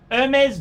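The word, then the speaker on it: Hermès: handbag could be broken the MS pronounced MMS silent H Hermes Birkin the Hermes Kelly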